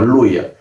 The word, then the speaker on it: Luya: ya con el español castellanizándose ya se se pronuncia como Luya y de esa manera ya se cambió ya el nombre de Ploya, Aloya y posteriormente a Luya.